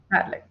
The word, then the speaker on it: Padlet: I'm very excited to start to learn the Padlet.